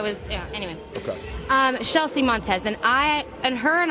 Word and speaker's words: Chelsea Montes: first place we have Chelsea Montes right a Houston did I say her name right you know what it's shelsea montz and actually I got